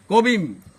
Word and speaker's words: কবিম: কবিং, কবিম উচ্চারণটা কবিম।